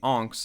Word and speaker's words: Ankh: I'm not saying unks, by the way, like someone's uncle. I swear that's how you pronounce it. That's how they say it in game. I'm gonna have to find a clip. An Ankh? Hey, that's my trick. I was wrong.